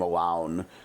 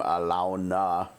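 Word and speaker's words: Alaune: N E but that's they don't pronounce her name alone. They pronounce her name like in-game Alona.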